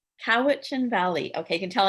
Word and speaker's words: Cowichan: trouble so everyone's gonna have to help me pronounce this howdy is it coaching valley couch cowichan valley okay you can tell i'm from ventura